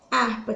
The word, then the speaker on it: harpa: com o fonema então harpa tem cinco letras ou conta da escrita do h porém na hora de contabilizar um número de fonemas que que acontece com ele ele se perde então fica apenas com